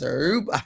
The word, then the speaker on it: Aruba: I can't say it how they say it. They roll the Mars. Aruba.